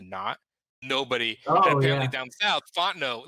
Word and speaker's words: Fontenot: thing with uh my friend's last name is fonteno but it's about f-o-n-t-n-o-t font the knot nobody apparently down south Fontenot like yeah down south fontanos are everywhere and